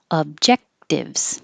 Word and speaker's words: objectives: almost always stressed materialistic objectives you don't release the k objectives hold it there objectives objectives and that's